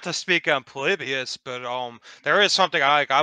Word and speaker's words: Polybius: on that was Polybus or Polybus, whatever you pronounce that. Yeah, Polybius.